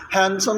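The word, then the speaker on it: handsome: तो मैं कहता हूं हैंडसम स्टूडेंट अच्छा हैंडसम में भी आपके पास बी होता है ना वो साइलेंट होता है ठीक है ये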